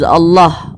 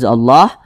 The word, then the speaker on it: Allah: yang kita perhatikan Nah jadi kalau ada lafaz Allah di belakangnya sini ada huruf yang memiliki tanda baca domah atau tanda baca fathah maka kalimat Allah dibaca tkhim dibaca tebal ini lafaz